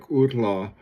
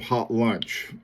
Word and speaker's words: Hautlence: It's the French pronunciation of something like outla, and in English it looks like sort of hot lunch.